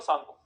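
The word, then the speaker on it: Tsangpo: इसकी spelling T से start होती है, ठीक है? टी एस ए एन जी पी ओ ना, पट्टी साइलेंट होता है, सांगपो कहते हैं इसको ना।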